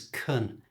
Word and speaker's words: can: did you hear that I pronounced can as Kun this is really common in fast natural English and also because this